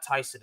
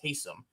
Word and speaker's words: Taysom: It's not Tyson, it's Taysom.